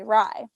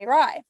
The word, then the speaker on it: Rei: it's spelled rei everyone calls me ry like all my close friends and family call me rye so i was like